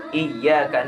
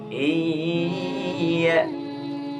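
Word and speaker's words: إِيَّاكَ: Iyyaka na'budu wa iyyaka nasta'in. Tasydid, awas perhatikan, tasydid ini tidak mempunyai gunnah. pengucapannya yang salah biasanya iya, tapi tasydid bukan gunnah.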